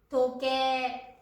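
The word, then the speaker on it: とけい: Nhưng cách phát âm thực tế là “トケー.” TO + KE + I. Đổi “ei” của “Tokei” thành “ē”, chữ cái chỉ âm thanh kéo dài.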